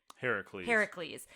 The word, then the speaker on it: Heracles: Heracles. And what they were worried about was that they would spell it that way, say it that way, and people would say, you're spelling it wrong.